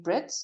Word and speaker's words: Britz: then my name and surname which is Brits I'll spell it for you now.